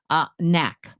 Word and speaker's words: knack: Knack. So the first word again? Knock. The second word? Knack. They are not homophones.